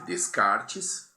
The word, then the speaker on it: Descartes: um filósofo chamado René descart né se escreve Descartes como a gente deve ter visto o ano passado e vocês devem ter anotado aí mas se fala descart porque ele era francês muito bem gente vamos